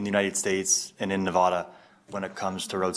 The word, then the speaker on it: Nevada: We're Nevada. My apologies. Nevada.